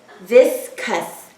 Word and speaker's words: viscous: Now if I'm reading this first syllable, it would be v, is, this. And the second syllable would be k, us, cuss. Let's put that all together. Viscous, viscous.